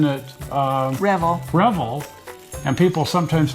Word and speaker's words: Revell: We just found out too, because we've been pronouncing it Revell, and people sometimes pronounce it. And Jim Keeler, who used to work for him, called us up and he says, it's Revell, not Revell.